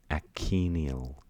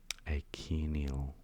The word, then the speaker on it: achenial: Achenial, I think you pronounce it. So it's like ache with Nial at the end. Achenial.